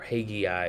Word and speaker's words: Haggai: So if you have in the Old Testament the exilic period where Daniel, Zechariah, Malachi, Jeremiah, Haggai, or Haggai, as some people will pronounce it, those prophets are speaking during a period of oppression and exile.